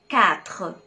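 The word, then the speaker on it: quatre: لتر ال Q برضو بنطقها كاف. زي كلمة كاتر.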